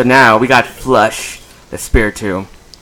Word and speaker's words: Spiritomb: All right, so now we got Flush, the Spiritomb. That's right, I pronounced the T like a tomb.